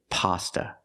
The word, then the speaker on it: pasta: e Pizza and pasta we don't say pasta not in America we say pasta use the short a sound like hot and stop pa pasta so the words are